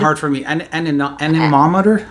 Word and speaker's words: anemometer: What's the pronouncing? For the speed. For the wind speed. It's hard for me. Anemometer? Anemometer.